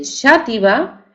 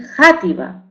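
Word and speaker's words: Xàtiva: Hay personas que dicen Shativa y personas que dicen Játiva. Es decir, ¿por qué pronunciamos ese término Shativa con X o Játiva?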